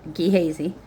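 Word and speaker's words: Gehazi: He said to his servant, uh, Ghesy, that's how I'm going to say it. G E H A Zi. But let me hold on. All right. So, I looked it up and I was saying it right. Gihazy.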